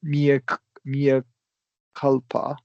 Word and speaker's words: mea culpa: So we've got the two different vowels, right? This is always going to be a schwa. Even though this is Latin, we're anglicizing it. And with that long E, it's two different vowels, right? So we're going to emphasize that Y, Mia. Mea culpa.